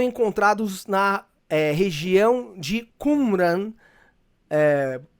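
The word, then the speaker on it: Qumran: na eh região de Kumran. Eh, o Dr. Rodrigo Silva diz Kumeran, né? Acho que é a é a é a pronúncia correta até do pessoal de Israel, né?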